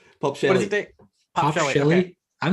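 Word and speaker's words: Pospischil: So how do you pronounce Jake's last name? Yeah. Sorry. I say popsicle in my head, but Yeah, It's no Pop disrespect Shelly. intended. What is it? Pop What Shelly. is it? Pop Shelly.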